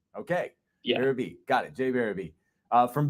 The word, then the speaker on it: Berube: Yeah, so you're saying it wrong, but I usually just tell people they're saying it right, no matter what they say, because not many people get it right. It's difficult. It's Berube.